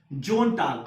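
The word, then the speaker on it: Sonntag: Next जोन टाग, अब इसको भी हम लोग ज प्रोनाउंस करें, क्यों, क्योंकि ओ हमारा क्या है, वॉवेल, समझ में आ गया। तो एस के बाद जब ओ आ गया तो ये हो गया हमारा जोन, जोन टाग, ध्यान रहे, जोन टाग।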